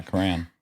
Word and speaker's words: crayon: Cran sounds like crown. No. Okay. So, you one syllable rhymes with man.